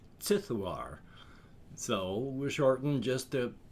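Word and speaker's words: Ziduar: being of power sithoir which is z-i-d-u-a-r but with the way i do my cosmic horror spelling that is of course pronounced sithuar so shortened just a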